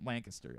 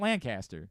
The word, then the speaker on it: Lancaster: It's like Lancaster. 100%. Lancaster, 100%. Yeah. It's not Lancaster. That's what Lancaster. I always said, yeah. Yep, Lancaster.